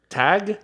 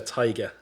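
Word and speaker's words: Tadhg: That's the TADGH. Tag, isn't it? It Right? was Tiger. I think it was. Taiga? Or, yeah. Taiga. So Taiga. That's TIGE is how they said to pronounce it.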